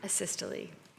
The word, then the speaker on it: asystole: After one shock, the patient's rhythm went to, how do I pronounce that word? It says? Systole. Asystole.